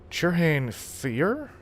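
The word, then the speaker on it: Fyr: was a civilized elite elf fear that's how you say it uh it was the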